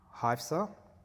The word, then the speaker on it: Hafsa: Yeah, so how do I say her name properly? Hafsa Hafsa, yeah.